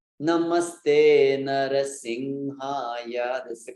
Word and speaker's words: Namaste: Namaste Narasimhaya. Yeah. It's not Namaste. It's Namaste. So the first na is short.